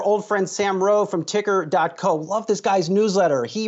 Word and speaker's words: TKR: I prefer to call it ticker.